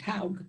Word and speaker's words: Haug: Haug is a, and pronounce it correctly for me, I always say it wrong. Yes, that's correct, Haug.